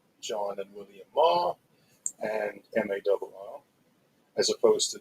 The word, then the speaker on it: Marr: They married 2 boys from Scotland called John and William Marr and M.A.R.R. as opposed to the Irish Mar, which is Meagher, pronounced also Mar.